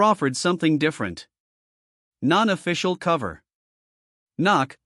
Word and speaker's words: NOC: Knock, pronounced knock.